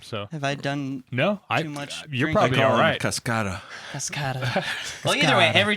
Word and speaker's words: Cascada: We Touch song say Cascada yeah that's who it is Cascade no it's not Cascade Cascada yeah there's I've never